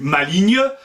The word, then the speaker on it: maligne: son maligne vite devenu maligne se prononcerait comme vigne ça reste à prouvé